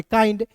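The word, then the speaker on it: kind: दोस्तों आया है तो याद रखिएगा किसी भी वर्ड्स के अंतिम में आई एन डी दिखेगा तो उसका उच्चारण आइंड के रूप में करेंगे ठीक है ना तो यहां पे देखिए आइंड के रूप में मैंने किया तो क्या हो गया दोस्तों ए आई एन डी को क्या पढ़ेंगे काइंड जैसे हम लोग का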